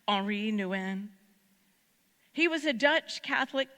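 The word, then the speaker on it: Henri Nouwen: it do you know the name Henry Nan or more correctly pronounced HRI Nan he was a Dutch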